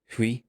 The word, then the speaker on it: Hui: his in his introduction he pronounces his name who like he says H